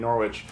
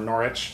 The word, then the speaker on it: Norwich: I was hanging out with him in Norwich, or Norwich, sorry, my pronunciation.